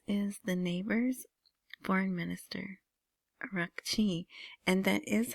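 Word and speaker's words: Araghchi: Of course there's a little heavier Middle Eastern part to it. Abas arachi.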